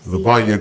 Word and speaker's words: Lluvonia: Miss Lluvonia Graham.